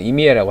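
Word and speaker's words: Emeya: 그래서 요걸 한번 해보려고 지금 준비 중에 있고, 자, 로터스 엘레트레라는 모델이 4년도에 북미 출시 예정이고, 에미아라고 읽어야 되니까 좀 애매하죠. 에미아라고 하는, 이미아라고 해야 되는 이 모델도 24년도에 내놓으려고 하고요.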